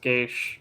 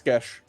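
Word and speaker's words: geas: I probably should not cast Geish, or however you pronounce it, on that guy. I think. Yes. It's Gesh. Yeah. It doesn't really matter. Yeah, it's Gesh.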